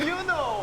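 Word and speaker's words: Yunho: This is how they pronounce their names. Hi, my name is Songhwa. My name is Hongjoong. And Yoonho.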